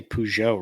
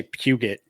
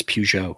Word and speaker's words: Peugeot: names car names hey at least i say peugeot right you know i mean i didn't say puget okay there are americans that think it's pronounced puke it's peugeot i can't remember how